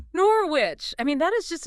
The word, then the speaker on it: Norwich: You had to pronounce the K. Kickers off ready when I come home. Norwich.